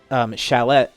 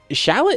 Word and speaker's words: Shallot: Okay, so this one obviously, well, it's weird because Shallot with an E, Shallot, I guess it's pronounced the same way.